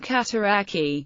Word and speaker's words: Cataraqui: The town's name rhymes with the place name Cataraqui, which appears in the Cataraqui River, the Little Cataraqui Creek, and the Cataraqui Cemetery in nearby Kingston, Ontario.